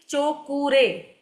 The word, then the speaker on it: Cho Ku Rei: ठीक है, चो कू रे, ये इसकी स्पेलिंग है, चो कू रे। यानी तीनों वर्ड अलग अलग है।